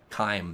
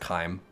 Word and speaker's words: CHIM: That was Chime. That was using Chime or Chim, as most people refer to it. But I'm pretty sure it's pronounced Chime, like Chimer or Chimera or Chitin, right?